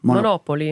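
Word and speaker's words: Monopoli: I'll be splitting my time between, how do you pronounce Monopoly over there? Monopoly.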